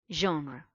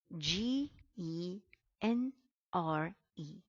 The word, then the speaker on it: genre: ask me why we we pronounce g as je because this is a french loan word it is a word